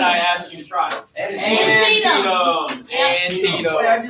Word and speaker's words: Antietam: Manitoga. And it's I'm glad I asked you to try. Antietam.